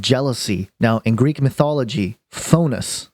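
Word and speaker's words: Phthonus: now in Greek mythology phonus I believe is how you pronounce it was the personification of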